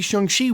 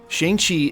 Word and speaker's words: Shang-Chi: If it was supposed to be Shang-Chi, we should have seen him 2 or 3 more times.